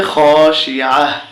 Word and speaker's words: خاشعة: আইন জবর আ, তা দুই পেশতুন খাশিআতুন, উচ্চারণ করলে হবে খাশিআহ।